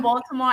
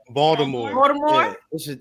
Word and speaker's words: Baltimore: Like, so we don't pronounce the T. This is a couple W and a D. Baltimore. Yeah, it's more of a Yeah. Baltimore.